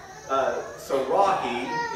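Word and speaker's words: Sarai: But we know that when Abram is 85 years old, Sarahi is how you would pronounce this, according to the dictionaries.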